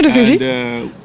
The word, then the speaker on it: Eredivisie: comes to the Eredivisie, and did I say it right? Eredivisie? Mm-hmm. Yeah, Eredivisie.